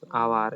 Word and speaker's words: hour: My brother had gone dash hour ago. Here we have already discussed yesterday. Here H is silent. If H is silent, actual word will become hour.